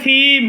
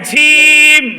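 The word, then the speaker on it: جيم: একজনে বলে ফেলেছে ভীম হবে আরেকজনে বলে বলছে সিম হবে না কি বলতে হবে ঝিম ঝিম এখন কেউ যদি বলে হিম হবে না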